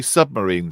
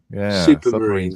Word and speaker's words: Supermarine: has to be the submarine Spitfire as James said it yeah submarine supermarine thank you you said submarine first well yeah I